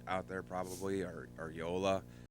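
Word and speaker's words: JOOLA: there probably are are Yola which is spelled j o l a okay cirk um those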